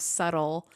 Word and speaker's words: subtle: the American version of subtle subtle it's like with a d oh there is a b but you say it like a d so so confusing for